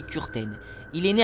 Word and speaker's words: Kürten: Donc c'est Kürten, vous pouvez dire Kürten, mais la vraie prononciation c'est Kürten.